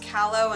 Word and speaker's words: Calo: previously they're twins i believe their names are pronounced calo and galdo otherwise known as the sansa twins